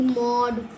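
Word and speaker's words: mode: कि आपको पता है ये इ वाला मैजिक है जैसे लास्ट वाली वीडियो में बताया था अगर इ वाला मैजिक आ गया यानी ई अगर एंड में आ गया तो ओ अपने आप को ओ ही बोलेगा। एम ओ डी ई मोड।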